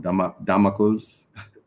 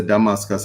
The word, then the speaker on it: Damocles: of this sword of, I always say it wrong, Damocles. Because I will say Damascus and them will say me dunce.